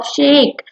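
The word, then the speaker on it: sake: Size pronounce like फा इन father and की शेकी ई के ई राइम्स विद वे, ठीक है।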